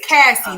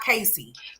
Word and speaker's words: Cassie: It's Cassie, not Casey.